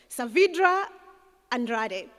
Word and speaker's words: Saavedra Andrade: And she said to me, you've got to pronounce it with that accent. Saavedra Andrade.